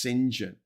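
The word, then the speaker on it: St John: John which is pronounced singen.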